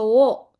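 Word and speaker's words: を: Jadi baso o tabemas lebih gampang diucapin daripada baso wo. Akhirnya ada perubahan cara baca.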